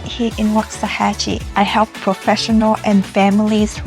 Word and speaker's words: Waxahachie: It's called Wahachi by the way.